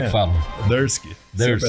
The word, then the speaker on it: Durski: E depois acabou ficando Júnior Durski.